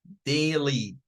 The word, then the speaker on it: daily: Y la última, daily, daily. Diptongo ahí suena a A. No es daily, es daily, daily.